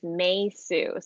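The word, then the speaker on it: Meisou: my character's name is meisu so it's spelled m-e-i but pronounced like may the month and sue is spelled s-o-u yes and it's like suing someone too i got you so mesu is that your full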